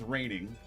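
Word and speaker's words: Reigning: Raining is spelled R E I I G N I N G I I want to say is how it's said.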